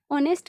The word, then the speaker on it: honest: ऑनेस्ट में जो ओ एच होता है वह साइलेंट होता है।